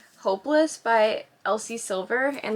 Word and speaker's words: Elsie Silver: Tik toks you know I like religiously like mispronounce Elsie Elsie Silver's name and I always say Alisa silver but I'm getting better